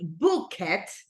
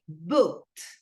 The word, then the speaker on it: booked: Once again, we don't say book it, but we say booked. ¿Verdad? No decimos book it, sino que decimos booked, ¿verdad? Como que al final un t, que es el sonido similar a tie.